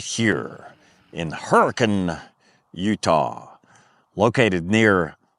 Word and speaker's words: Hurricane: recovery right here in Hurricane, Utah, located near Zion National Park. And yes, those are the proper Utah pronunciations of those two words.